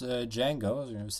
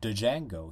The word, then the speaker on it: Django: ago on YouTube we didn't know how to pronounce Django he said da django he didn't realize that the deal was silent